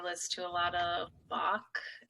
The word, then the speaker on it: Bach: to a lot of bach okay that rhymes with block rocks yeah uh bach